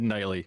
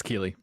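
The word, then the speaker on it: Keighley: He said Knightley. It's Keeley, but it's okay.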